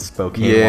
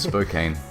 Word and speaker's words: Spokane: I think you pronounced it Spokane, Washington. Yeah, they can go fuck themselves. It's Spokane. Sorry, guys.